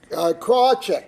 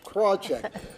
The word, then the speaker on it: Krawczyk: first class short okay Susan korchek now I had to say that it but particularly because I thought it was three syllables Krawczyk but but Susan Susan